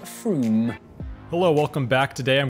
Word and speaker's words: Frome: it's not from f-r-o-m-e it should be blitheringly obvious it's pronounced froome hello welcome back today